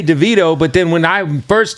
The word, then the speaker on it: Davido: album with me yo you just pronounced your name DeVito and I have always said that but when I first met you you said David O so